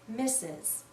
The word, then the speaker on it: Mrs: the word mistress but we almost always read this as misses mes is another title